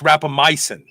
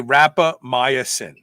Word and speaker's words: rapamycin: that people say is i don't pronounce rap rapamycin it's rapamycin and i say rapamycin so that's that that's